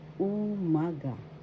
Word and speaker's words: umaga: Another one, magandang umaga. That means good morning. First syllable u, second syllable ma, third syllable ga. Umaga. Umaga. The second syllable has the accent umaga.